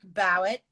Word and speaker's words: Bowett: But Bowett, yeah. Bowett.